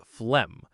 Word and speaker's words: phlegm: It's Phelgm, but we pronounce it like phlegm.